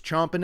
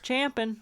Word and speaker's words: champing: It's champing. I went up because it is champing. However, when you Google it, people have said it wrong so much that chomping is also accepted now.